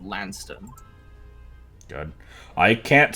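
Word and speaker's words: Launceston: from uh it's okay it's spelled l-a-u-n-c-e-s-t-o-n and it's i believe lanston good i can't spell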